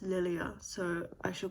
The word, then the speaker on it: Lilia: Spencer is one of the side characters that uh Lilia Well, from the audio book, I realized her name is pronounced Lilia, so I shall call her Lilia now, the FMC.